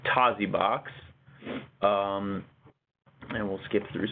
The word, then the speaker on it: Tosibox: fullscreen Tasi box sorry i i've been pronouncing it all wrong and i haven't been able to change my brain so it's Tozzi box um and we'll skip